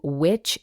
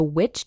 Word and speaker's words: VVitch: head on over to which digital and note that which is spelled vvi t c and mention the witch